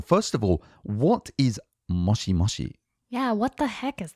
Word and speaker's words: moshi moshi: It's not mochi, like mochi, but Yeah, mochi mochi. And sometimes I hear people say mushi mushi, which is completely incorrectly pronounced. That's usually students of Japanese, but it's actually moshi moshi.